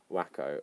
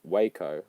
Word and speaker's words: Waco: happen in any other civilized and developed country wacko what would you say I was only pronounced it because Kings of Leon said it